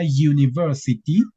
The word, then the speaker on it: university: Resulta que la palabra university tiene un sonido consonante. En realidad, no estarían utilizando el sonido de la U normal, como en umbrella. En realidad, es como si ustedes estuvieran pronunciando el pronombre you.